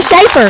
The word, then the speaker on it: Schaefer: I'm in studio, with the beautiful Lauren Chauffeur. I was going to say Schaefer. I said chauffeur. It's spelled with a S-C-H.